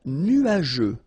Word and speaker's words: nuageux: Un ciel couvert, un ciel nuageux. This can be quite tricky, but take the time to nuageux. Remember, final X here not pronounced.